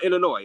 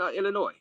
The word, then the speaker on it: Illinois: So, uh, uh, the S is silent in Illinois's raise. Oh, Illinois. All right. So, Chicago, Illinois, JD. Yeah. All right. Thanks for the correction. Illinois.